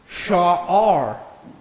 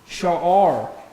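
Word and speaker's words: שער: Next we have Sha'ar. You have that guttural there, holding that short vowel. Sha'ar.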